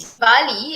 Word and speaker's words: Diwali: So Deepavali and Diwali, as in DIVWALI, is the same thing. Okay, it's the Yep. same thing, referring to the same occasion. It's just that Deepavali are the Southern Indians pronunciation of Deepavali, Yep. Deepavali, whereas Diwali is more of a Northern Indians pronunciation.